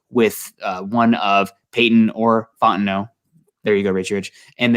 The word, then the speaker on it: Fontenot: Do you know if that's Fontenot? Fontenot, excuse me. I see okay. We have Richie Rich in here correcting us. Fontenot. Thank you, Richie Rich, keeping us Cajun. on the pronunciation.